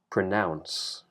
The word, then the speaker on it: pronounce: unvoiced S consonant and the stress is on the second syllable pronounce pronounce so it's not